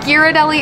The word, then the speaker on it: Ghirardelli: And it is pronounced Ghirardelli. It says so in the thing. So all you Ghirardelli people, you are wrong. Completely wrong.